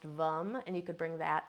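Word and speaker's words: VAM: the seed sound for the sacral chakra is vum V it's spelled v m but it's pronounced vum and you could bring that in and kind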